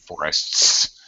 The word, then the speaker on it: forests: We probably reduce this forests. We just forests and drag an S because that's difficult, really. S-T-S. It would be common to reduce pronunciation there.